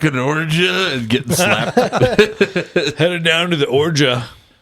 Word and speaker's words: orgeat: And that's a good call, Jason, with tiki drinks too, is the almond in the form of orgeat. Orgeat? Is that how you pronounce orgeat?